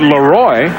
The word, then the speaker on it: Leroy: But Leroy, which is the way he likes it pronounced, would like to be an every down back.